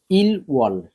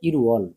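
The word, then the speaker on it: 일월: দাল থাউম দাল ঝিনান্দাল ঠিক আছে এবার দেখেন ইল ওয়াল ইল ওয়াল এই যে ইল ওয়াল ইল ওয়াল মানে হচ্ছে জানুয়ারি মাস তো এটার উচ্চারণটা হবে ইরুয়াল ইরুয়াল মানে জানুয়ারি মাস এই যে উয়াল মানে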